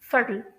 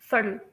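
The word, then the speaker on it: subtle: तो मैं आप लोगों को ये बता दूं कि जो टी है अमेरिकन प्रोनाउंसिएशन में, जैसे कि मैंने आप लोगों को पहले से बताया हुआ है कि वो डी की तरह स्लाइटली डी की तरह प्रोनाउंस किया जाता है, इसी वजह से यहाँ पर भी इसी तरह से आएगा सटल।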